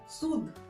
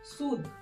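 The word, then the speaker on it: sud: सूद। Okay, अब यहाँ पे डी का पूरा प्रोनाउंसिएशन है, डी का पूरा पूरा साउंड आ रहा है। ओके, ये ध्यान रखने वाली चीज है।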